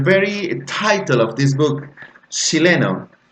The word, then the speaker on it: Chile: About pronunciation, the very title of this book, Chileno, the sound changes to sh. So instead of Chile, they say Chile.